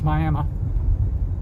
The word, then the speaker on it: Miami: or three other little communities out here there's Miami it's spelled Miami which is the way most of you pronounce it but the local pronunciation is Miami and then a little place called Central Heights